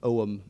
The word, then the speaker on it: Ogham: That's the Ogham script, or I think Oham is how it's pronounced in modern Irish.